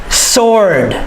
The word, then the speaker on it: sword: Sword. My man, sword. The W is silent.